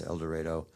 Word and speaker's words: El Dorado: it was el dorado that's how they pronounce el dorado oklahoma near the texas border i